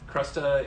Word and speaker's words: crusta: this is an armagnac uh i've always said crusta yeah um crusta is is the way that word is pronounced and armagnac is a very very special